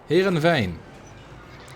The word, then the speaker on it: Heerenveen: And this weekend we will have a World Cup in Heerenveen. Or to pronounce it the way of the original language, Heerenveen.